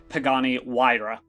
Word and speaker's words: Pagani Huayra: shiny new supercar which I will amend my previous statement by saying is pronounced Pagani Huayra at least in the Italian I will take your